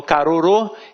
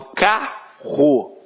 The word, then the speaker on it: carro: Eu não falo carorô, eu falo carro.